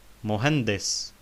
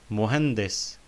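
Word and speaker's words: مهندس: Muhandis. Muhandis means engineer. We notice that we say muhande, muhandis, not muhandis, but muhandis, because there is kasra under dal, and on sin there is sukun.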